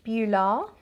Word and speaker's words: Beulah: the next one beulah so it's spelt b-e-u-l-a-h bula and this one i